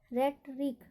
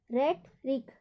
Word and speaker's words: rhetoric: दूसरा लेटर है आपका RHETORIC, इसको क्या पढ़ेंगे, रेटरिक, रेटरिक, यहाँ पर भी एच साइलेंट होगा।